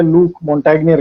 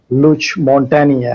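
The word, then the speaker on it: Luc Montagnier: बात थी और ये मैं भी इनको पहले लूक मॉन्टेग्नियर कहता था, रिनाउंड साइंटिस्ट हैं। मुझे मेरी एक फ्रेंच बंदे ने तस्दीक कराई कि ये वहाँ की लोकल जो फ्रेंच लैंग्वेज है उसमें इसकी प्रोनाउंसिएशन लुच मॉन्टेनिया है।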